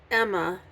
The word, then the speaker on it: Aim: Now, the servant is Emma. I know it says AIM, but the way it's pronounced is Emma.